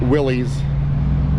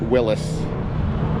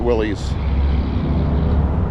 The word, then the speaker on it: Willys: I call I pronounce it Willys and I've heard people call it Willis. I know there's a big argument over the internet about it. I don't care. I call it Willys.